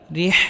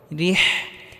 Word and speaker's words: رحلة: ইলাফিহিম, রিহ এখানে বড় হাটি গলার মধ্যে হালকা চাপ দিয়ে উচ্চারণ করতে হবে। রিহ এখানে ছোট হা পড়লে হবে না, এখানে বড় হা পড়তে হবে।